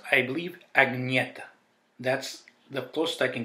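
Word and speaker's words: Agnetha: Here we have Ring Ring by Bjorn, Benny, Agnete, and Frida.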